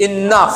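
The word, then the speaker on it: enough: इनफ, जी के बाद में यदि एच आता है तो हम उसका साउंड ही नहीं निकालते। कई बार हम उसका क्या करते हैं, जीएच को हम फ पढ़ते हैं और कई बार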